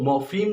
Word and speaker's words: morpheme: इसको हम अगर प्रोनाउंस करें तो इसको मॉर्फीम कहेंगे।